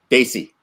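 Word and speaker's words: DSI: and as well um the word is spelled DS I how do you say it Dy Daisy okay I attended a daisy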